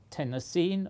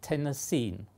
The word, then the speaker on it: Tennessine: I'm not sure whether it's intended to be pronounced Tennessine or Tennessine. I prefer Tennessine.